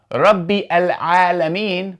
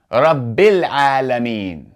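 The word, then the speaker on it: رب العالمين: However, if we continue, we do not say rabbi al-alameen, but rather we do not pronounce that hamza. We go straight from the ba kasra to the lam. rabbil alameen.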